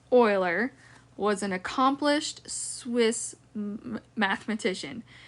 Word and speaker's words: Euler: there's some special types of logarithms so Leonard Euler so it's pronounced Euler was an accomplished Swiss mathematician his career spanned